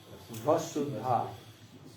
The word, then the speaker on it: Vasudha: Vasudha. Vasudha. That's how you say it. Not Shuddha. Vasudha.